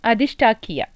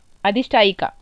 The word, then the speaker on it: अधिष्ठायिका: वो अधिष्ठाक्या के नाम से यहाँ पे महादेवी को स्थापना की गई है ना, अधिष्ठाक्या। अच्छा लगा मेरे को ये नाम। नहीं अधिष्ठायिका, right, I am pronouncing it right I guess.